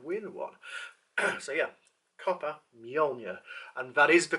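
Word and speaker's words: Mjölnir: So yeah, copper Mjolnir, and that is the correct pronunciation for it as well.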